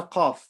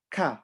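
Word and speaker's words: ق: The letter qaf. So when we pronounce this letter, we're not going to say ka, we're going to say qa.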